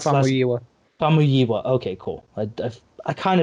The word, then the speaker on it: Famuyiwa: I can't Rick pronounce his last. Famuyiwa.